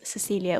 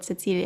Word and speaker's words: Cecilia: Her name was Cecilia, or Cecilia as you pronounce it in Slovene.